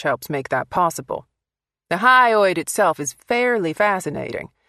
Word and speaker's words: hyoid: That's pronounced hyoid.